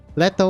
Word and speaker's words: Leto: want to see if I'm saying this name correct or not letto pronunciation John Leto oh God letto letto was right we are all the